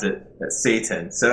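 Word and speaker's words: seitan: different Source it's uh this is the actual pronunciation so I don't worship the devil it's called Satan and it's s e i t n I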